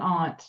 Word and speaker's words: aunt: I'm happy at how many people pronounce the word aunt, by the way. Not that like It's aunt, it's not aunt.